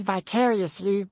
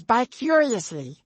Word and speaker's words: vicariously: the word someone who thought the word vicariously was by curiously you're going on vacation with